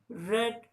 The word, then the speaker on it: read: पहले वाले में यानी कि पॉजिटिव डिग्री में हम रीड पढ़ते हैं, READ, रीड। और कंपैरेटिव एंड सुपरलेटिव डिग्री में हमारा जो प्रोनाउंसिएशन है वो रेड हो जाता है, स्पेलिंग हमारी वही READ होती है।